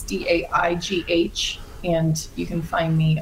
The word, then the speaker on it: Daigh: But yeah, it's Daigh, and the last name's Irish, so it's spelled weird. It's Daigh.